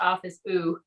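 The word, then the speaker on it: Office Ou: and it is pronounced office ooh kind of like the french ooh um so thanks so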